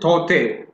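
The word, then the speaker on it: Tauktae: Tok Tae. You pronounce it Tote.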